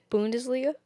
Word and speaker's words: Bundesliga: Bundesliga? Yeah. That's correct. Between 5 years between Bundesliga and the Danish Super League in Denmark. Yeah. Okay. Okay. Is does John Tolkien play for German Bundesliga?